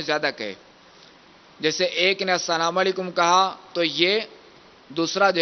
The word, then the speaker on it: السلام علیکم: پہلے آپ سن لیجئے السلام علیکم، السلام علیکم، وعلیکم السلام، وعلیکم السلام، وعلیکم السلام.